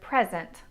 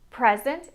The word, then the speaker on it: present: Some words are both nouns and verbs. They're spelled exactly the same however with nouns the stress is in the first syllable and verbs are stressed in the second syllable.